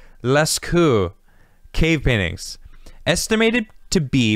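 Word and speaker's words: Lascaux: known as the list i feel like the x's is silent leskou cave paintings estimated to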